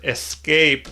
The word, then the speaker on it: escape: Oh, and I got to remember to try and cut back on the word escape because I was, pronouncing it with an X in there, and a viewer brought that to my attention, so thank you.